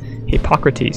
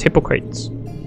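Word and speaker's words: Hippocrates: do you feel H I didn't even know hypocrates that's how you pronounce it I would have pronounced it as hypocrites but then it sounded like hypocrite so he's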